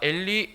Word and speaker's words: 엘리: 마태는 히브리어 발음을 그대로 가져왔고요, 그럼 마가는 시리아어 발음을 가져와서 이런 차이가 생긴 것입니다.